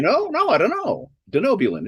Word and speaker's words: Denobulan: able to pronounce denobulan it's denobulan the easy way for me to remember it or for you to remember is to think about you know do know I I don't know